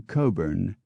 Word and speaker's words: Cockburn: Blount into blunt Bethune into Beaton cockburn into Coburn Koch into cook Lord H becomes Lord Hume